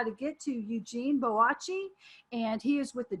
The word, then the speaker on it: Boakye: Okay, so either way, you're looking for Eugene Boakye, Boatye. Okay, spell it right.